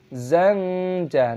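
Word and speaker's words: زنجبيلا: Zanja, nun sukun diikuti jim dibaca ikhfa.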